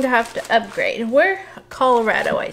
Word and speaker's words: Colorado: My former brother-in-law called it Colorado, and that just really stuck with us. We're like, it's time to go Colorado. We know how to say it right. Going to Colorado.